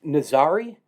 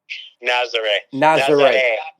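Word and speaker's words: Nazaré: So, is the town, is it pronounced Nazare? Nazare. Okay. Like foreigners, Americans call it Nazare, but it's Nazare.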